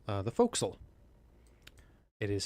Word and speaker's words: forecastle: on a ship Naval vessel is called the foxel it is spelled Forecastle uh but it's pronounced folksol we're in Georgia you can tell by the